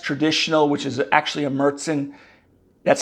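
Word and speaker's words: Märzen: know the Oktoberfest traditional which is actually a mertzen that's how you pronounce it m-a-r-z-e-n which is the little darker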